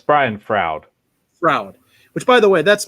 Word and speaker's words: Brian Froud: I'm not pronouncing that right, am I? It's Brian Froud.